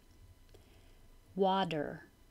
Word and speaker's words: water: Heart, water with a D.